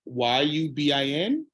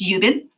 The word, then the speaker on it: Yubin: on my screen I don't know if I'm pronouncing her name right y-u-b-i-n okay and we'll find out so my name is yubin yubin I currently work at Westchester Medical Center